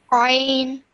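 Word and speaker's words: ع: Like I said, this one is a bit more difficult to pronounce because you have to pronounce it from the middle of your throat, but you did really well with that one.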